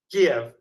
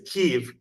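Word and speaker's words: Kyiv: K right you know the old way of saying it was Kev and now the new modern Ukrainian way is keev and I go back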